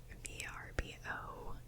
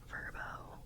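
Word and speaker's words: VRBO: So, I've actually I was using the website VBO. I don't know if it's pronounced Verbbo. I think that's how I think you're supposed to say Verbbo, but I always say VBO.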